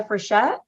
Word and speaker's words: Frichette: I mean, we've heard so many ways that our last name can be pronounced. We just go by Frichette.